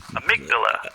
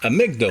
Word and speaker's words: amygdala: Uh, and I know I'm probably pronouncing I'm Amydala. amigdala accent on the second syllable.